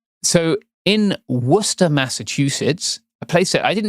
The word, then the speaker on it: Worcester: I do we do have to call it Worcester cuz that's what it's called in this country. Mhm. I care a lot about accurate pronunciations of places and names. So, it is Worcester.